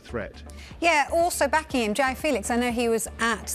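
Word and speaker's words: João Félix: We've all been getting Joao Felix's name wrong, and he was keen to correct us.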